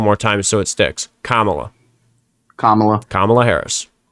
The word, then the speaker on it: Kamala: Kamala. Can you say it with me? Kamala. It's like comma at the in the middle of a sentence.